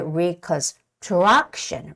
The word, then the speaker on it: reconstruction: long word there now here's a trick when you see a word ending with t IO n the stress always comes on the vowel right in front of Tio n okay on the syllable the vowel in the syllable right in front of Tio n so it's got to be reconstruction reconstruction same goes with the